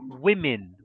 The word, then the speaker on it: women: in the plural yes in the plural it's different from the singular so if you're talking about one woman the pronunciation is woman but if it's two or three then it's women women okay last one